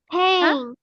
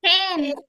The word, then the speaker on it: pen: Pen. Pain. Pain. Pen. Pen. Pain. No, miss. What Pen. is it? It is pen.